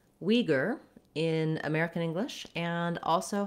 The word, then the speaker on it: Uyghur: So in English, the most common way that we pronounce Uyghur is with the Uyghur pronunciation, where we use the, for the letters UI, we say a W and an E sound, we.